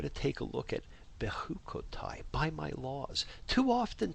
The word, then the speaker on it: Bechukotai: And remember the I, Bechukotai, the I sound at the end of a word is the Hebrew for my.